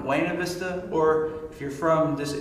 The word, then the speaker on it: Buena Vista: african-american men from the town of Buena Vista or if you're from this region they pronounce of Buena Vista and in the 70s